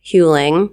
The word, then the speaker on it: Huling: We had Christa Huing. Am I saying that right? Yes. Because it rhymes with schooling.